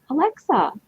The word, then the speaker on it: Olexa: i am thrilled to introduce you to alexa good morning am i saying your last name